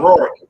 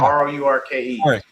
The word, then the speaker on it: Rourke: Oh, Rourke. Rourke. Yeah, r o u r k e.